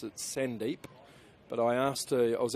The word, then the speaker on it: Sandeep: I think it's Sandeep, but uh I have been told maybe this guy's trying to stitch me up and say Sundep.